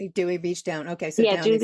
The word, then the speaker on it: Dewey Beach: It's I believe it's in Dwery Beach if I'm correct. Dewey Beach down.